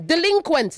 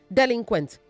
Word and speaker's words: delinquent: let's keep it going delinquent not delinquent delinquent delinquent okay say illegal say earth not it earth say thing not teen a teen holds beverage like a tin of milk.